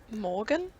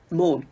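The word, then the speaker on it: Maughan: Morgan? No, it's just like Morn.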